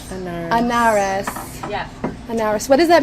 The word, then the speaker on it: Anarres: Anarres. Anarres.